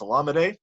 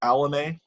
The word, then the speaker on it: Olamide: And by the way, announcers, it's Olamide, not Alame. He puts it on his Twitter profile. He's got it in his Twitter profile. This is how you say my name.